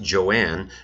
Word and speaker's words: Joan: Crawford later said that she wanted her first name to be pronounced Joanne and that she hated the